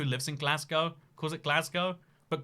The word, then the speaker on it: Glasgow: because everyone who lives in Glasgow cause at Glasgow but glass goes the more like what everyone else says but